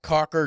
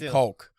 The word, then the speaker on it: caulk: Why can't they just say caulk? That's how it's spelled. Yeah. There's an L in there, so just be caulk. Why does it have to be cock?